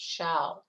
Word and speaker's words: Show: up against eric chow even though his last name is spelled show his name it was pronounced shao so eric shall he